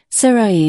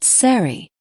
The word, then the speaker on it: Sarai: Sarai, not Sari.